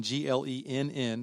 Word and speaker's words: Glenn: them all right so my name is glenn g-l-e-n-n two ends the second end is silent glenn um